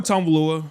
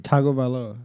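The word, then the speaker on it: Tagovailoa: Tua Tang Tua Tonalua versus Bryce Young. That was the worst pronunciation of his last name I've ever heard.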